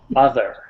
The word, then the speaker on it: other: other okay very good when you said that the first time it was utter you had the d sound don't forget the th sound we put the tongue between our teeth yeah very good now